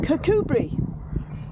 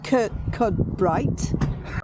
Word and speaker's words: Kirkcudbright: is what it says Mandy will tell us how to pronounce it and we're in cbri not c c bright apparently it's an artist